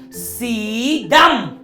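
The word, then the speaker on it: สีดำ: Sekarang, dalam bahasa Thailand, dibaca sebagai sidam. Sidam lagi. Sidam lagi. Sidam dengan lebih banyak energi. Sidam. Lihat, itu agak dalam di tenggorokan.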